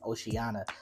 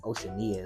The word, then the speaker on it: Oceania: of Road does Oceania I think that's how you say it I've been calling it oceanana all this time but I think it's Oceania is how you pronounce it this is a